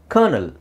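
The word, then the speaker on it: colonel: n e l okay so how do you pronounce this word okay so kernel Kel kernel don't can just say kernel kernel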